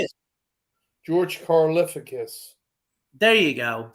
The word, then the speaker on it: Karlaftis: Karlaftis. How do you say it? George Karlaftis.